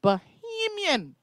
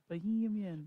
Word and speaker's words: Bahamian: The real Bahamian woman. Bahamian.